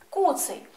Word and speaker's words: Куций: цуциня звертаю вашу увагу Куций означає тварина з коротким або обрубаним хвостом і наголос ставимо на першому складі Куций а в слові цуценя